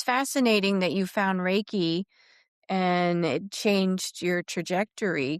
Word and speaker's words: Reiki: Reiki tends to sub two syllables. So there's Ry and K.